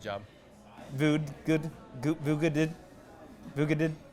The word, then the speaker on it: Voogd: Yeah, the G is silent. But D is silent. The D is silent. Oh yeah, that's right. Yeah. But you pronounce it better than 99% of people, so you did a good job.